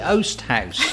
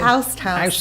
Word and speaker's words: Oast House: The Oast House. The Oast House. Yeah. What do you keep saying? I keep saying the Oust House.